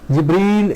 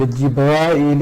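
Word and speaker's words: جبريل: Jibreel is used in Quran and Jibrail is used in Hadith, so both are correct pronunciations.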